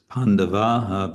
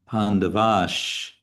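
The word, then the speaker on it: pāṇḍavāś: But what I want to say is this Pandavaha becomes Pandavash because there's a cha after it, and it's easier to pronounce Pandavash Chaiva than it is to pronounce Pandavaha Chaiva. It goes easier in the mouth.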